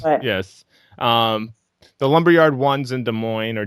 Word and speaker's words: Des Moines: is better yes yes the lumberyard ones in Des Moines or Des Moines as if you want to say it wrong